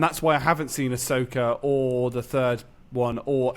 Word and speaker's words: Ahsoka: I didn't like what's the new one that's just come out with Ahsoka?